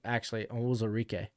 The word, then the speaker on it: Onwuzurike: Green Bay Packers, they go Samuel Cosme, Levi Onwuzurike, or it's actually Onwuzurike, and then Amari Rodgers.